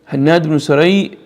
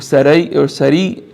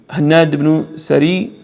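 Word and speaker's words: Hannad ibn al-Sari: Hannad ibn Saray, very important, or Sari, is correct pronunciation. Hannad ibn Sari, from the great A'imma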